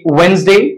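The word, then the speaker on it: Wednesday: silent है इसके बाद ये एक्सेप्शन है वेनसडे या इसमें भी है पर ये साइलेंट है वेनसडे इसको प्रोनाउंस नहीं किया जगा एंड ये ये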